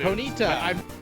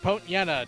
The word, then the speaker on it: Ponyta: Ponyta, or Ponyta, depending on how you want to pronounce it.